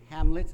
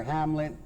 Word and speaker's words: Hamlet: liberation omelet handle it omelet or Hamlet and Spanish the H is silent so it could be omelet yeah anyway he is